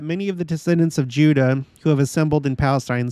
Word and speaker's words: Judah: you're listening to this I'm not adding the S at the end that's how it's written Judas that's what he's saying um he means Judah of course he's just an alternate pronunciation uh Moses Ezekiel Amos